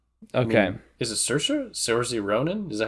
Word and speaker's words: Saoirse: I mean, is it Saoirse? Saoirse Ronan? Is that how you pronounce Saoirse? Yeah, her name's Saoirse.